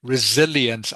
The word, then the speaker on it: resilience: Remember, the C is pronounced like an S, the S sound, resilience.